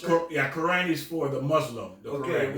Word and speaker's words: Quran: Is that how you pronounce it? Quran is for the Muslim.